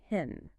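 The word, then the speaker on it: חן: To avoid vagueness, the sources point to the Hebrew word n, pronounced hen.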